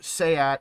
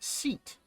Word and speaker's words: SEAT: pronounce Renault as renal or sayat as seat or let's just be